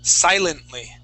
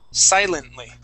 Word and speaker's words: silently: Now this word here is silently. Same thing. The accent is at the very beginning of the word. Silently.